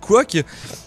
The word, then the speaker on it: Quok: mettre la main sur le général Quok, prononcé Quok, qui a carbonisé sa femme au lance-flammes.